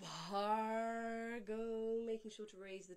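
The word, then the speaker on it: भर्गो: Bhargo, aspirated Bha with the H. We have to have an expulsion of air from the lower belly. So it's not Bargo, it's Bhargo, making sure to raise the tongue for the R.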